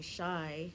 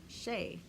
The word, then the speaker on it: Shei: my name because it was spelled as sh e I instead of saying shy he said che and on the next to battle b-boy bla bla bla vs.